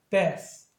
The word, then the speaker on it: bath: 할 때 얘나 얘를 구별할 때 얘는 무성음으로 발음을 해줘야 됩니다. 그래서 bath.